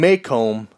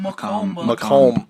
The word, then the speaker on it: Macomb: And we'll see you guys in Maycomb next week. Macomb. Macomb. You gotta say it like your Illini. sinuses or something. Like Macomb. honeycomb. Macomb.